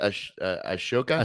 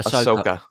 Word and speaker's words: Ahsoka: Yeah, Hayden Christensen returning to Star Wars with, how do you pronounce that? Ashoka? Ahsoka.